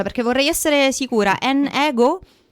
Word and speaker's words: N-Ego: N ego si pronuncia. Sì, come vuoi. Nego nego. Nego. Esatto. Sì.